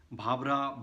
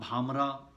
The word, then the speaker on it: Bhabra: Bhabra, Bhamra, this is how they pronounce it.